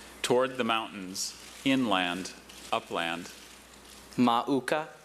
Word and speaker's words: mauka: Are there any other pronunciations? Just the one. Mauka. Okay. What's the uh language of origin? Hawaiian, which should help him out. That's a very phonetic language. Everything spelled how it sounds.